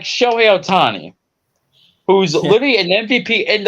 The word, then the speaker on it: Ohtani: Ohtani. It's Ohtani.